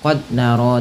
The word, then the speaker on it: قد نرى: Contoh qad nara taqalluba wajhika, itu salah. Tapi yang betul bagaimana? Qad nara.